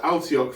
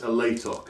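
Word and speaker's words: Alaitoc: I always pronounced it Altioc for years. Then I actually read it and realised it says Alatoc.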